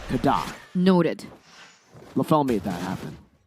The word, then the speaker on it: KDA: It's Kada. It's Kada. That's how you pronounce KDA. For Haji specifically. For everyone else, it's just KDA. But for him, it's Kada.